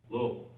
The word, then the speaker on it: Louisville: to show you so act like you have a few marbles in your mouth and two bourbons and three three syllables the last one rhymes with f repeat after me blable blable one more time